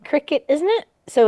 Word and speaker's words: Cricut: It's pronounced like cricket, isn't it?